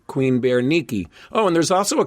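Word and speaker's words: Berenice: And now you'll know something about him and we know something about who I pronounce wrong of course, but now I know it right. Queen Bear Nikki.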